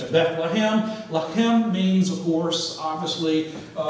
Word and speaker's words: Bethlehem: The word Beth is usually broken down as Beith, and it means house, loosely, okay? And then the last part of that, Lechem, which we pronounce it in English as Bethlehem.